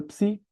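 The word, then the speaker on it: ψ: A letra psi é a famosa letra da psicologia. Ela equivale a um ps.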